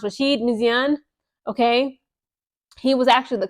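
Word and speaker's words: Rachid Méziane: The name I believe is pronounced Rasheed Misian.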